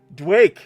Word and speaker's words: Dwake: Dwake. There we go. Where the Go ahead. Sorry. Go ahead. Oh, it's like Doom and Quake combined.